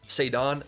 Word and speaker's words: Ceddanne: Ceddanne, say it with me.